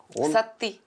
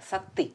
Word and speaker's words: Саты: Как правильно ударение в имени папы? Саты. Саты? Да, Саты. Я сейчас еще больше объясню.